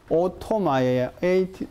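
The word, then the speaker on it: Otto Mayer: 행정법의 아버지라고 불리는 사람이 누군가 하면, 이 사람이, 뭐라고 읽겠어? 오토마이어, OTTO, 그지?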